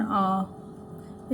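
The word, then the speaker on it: hour: आर अ से शुरू हो रहा है ना, आ, तो एच जो है साइलेंट है, वो क्या है, साइलेंट है, बोलते नहीं एच को, तो यहाँ पे तो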